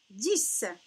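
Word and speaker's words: dix: 10. 10. Ah, 10 aussi. On voit le X, mais on le prononce S.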